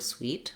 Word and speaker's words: suite: it's very different and in fact it has the same pronunciation as this word sweet like sugar is sweet